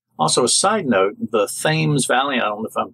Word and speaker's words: Thames: a side note the Thames Valley on the phone pronouncing that right Thames Valley okay well there you even though spell tha mes Emily anyway they will